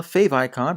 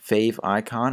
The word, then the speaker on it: favicon: a fav icon well a fav icon pronounced fav icon our fav icon depending on where you are is a square version